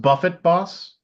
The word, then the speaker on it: Buffet Boss: Buffet Boss. What's Buffet Boss? I think it's pronounced Buffett Boss. It's a Jimmy Buffett. Yeah. Yeah, it's Jimmy Buffett Boss.